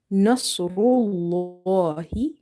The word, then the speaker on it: نصر الله: But here in the word Nasrullah, lam is heavy because of dama before it. Okay. Nasrullahi, Nasrullahi, al-Fath.